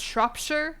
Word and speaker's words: Shropshire: It's pronounced Shropshire. You must never say Shire properly. Shure. Yorkshire. Cheshure. Shropshire. Bredford Shshire. I guess it's a little bit like you wouldn't say Louis Louisville, you'd say Louisville.